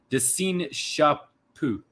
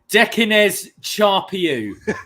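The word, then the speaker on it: Décines-Charpieu: In the Lyon commune of de Seine-Chapeau. Excuse me? I'm going to pronounce it properly here, okay? Dekines Charpieu is where they're playing.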